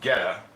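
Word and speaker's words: goetta: It's pronounced ghetta. It's kind of sausage and it's pronounced ghetto.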